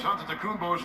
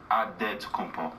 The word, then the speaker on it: Antetokounmpo: the spelling of Giannis Antetokounmpo's last name. He helped set the record straight of how you pronounce it. In the real way, you gotta say it with a D, so it's Antetokounmpo.